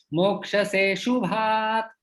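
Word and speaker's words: मोक्ष्यसेऽशुभात्: तो मोक्ष से शुभा, मोक्ष से अशुभात एकत्रित शब्द बन जाता है मोक्ष से शुभात। मोक्षसे शुभात् यहाँ पे अ का उच्चारण जो है वो साइलेंट हो जाता है।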